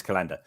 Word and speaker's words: Calanda: Calanda. I don't know how to pronounce it. Calanda. It is Calanda.